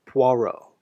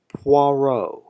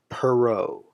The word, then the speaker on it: Poirot: it was the fourteenth novel to feature christie's famous detective akul poirot please note it's pronounced poirot not perot this is perrault this is poirot french